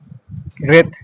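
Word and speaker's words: wreath: তারপর রেথ, WREAT রেথ, এখানে তোমার ডাব্লুটা পুরোপুরিভাবে সাইলেন্ট আছে।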